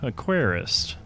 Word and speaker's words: Aquarist: Hello, this is YoloHobo, and today we are looking at Aquarist.